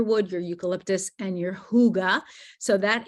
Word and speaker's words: hygge: your hygge so that hygge is pronounced yes now there's kind of a guttle h in um for that particular word but if you think of it as h-o-o-g-a you'll be right on target okay deep relief again